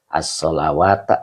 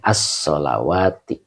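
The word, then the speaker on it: الصلوات: Jadi tidak ada as-solawata, tidak ada ya. Jadi dibacanya as-solawati.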